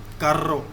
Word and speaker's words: carro: This double R is pronounced as, for example, this word carro. Okay, double R is pronounced as, this is rolling R.